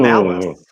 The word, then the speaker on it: Malus: Could you please spell it for us? M A Mhm. L U Oh, S. Ooh. Malice.